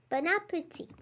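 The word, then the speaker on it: bon appétit: can you guess it bon appetit means enjoy your meal note that the final t is not pronounced in french and nor should it be in english for that matter we are going to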